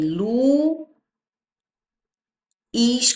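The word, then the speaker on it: Luís: Lu, is, quando a gente separa, ó. A sílaba tônica, a forte está aqui, ó.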